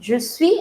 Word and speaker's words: je suis: Now, you must be seeing that I'm not pronouncing the last consonant. Je suis, I'm not saying je suis.